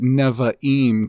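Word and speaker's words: נביאים: of the Old Testament they'll usually call it neva em cuz they pronounce the bees V but it would be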